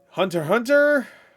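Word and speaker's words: Hunter × Hunter: Hunter Hunter. That's how you say it, right? You don't say Hunter X Hunter. Hunter Hunter.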